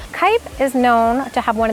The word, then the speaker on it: Kep: It is from what you probably know as Kep, but I learned it's pronounced Kipe. Like kite in the sky, but with a P. Kipe is known to have